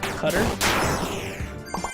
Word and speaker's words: Qatar: I'll say the best experience I've had with an airline has been with Qatar. Cutter? Yeah, Qatar. Oh. Qatar. Mm. There's like multiple ways you can pronounce it.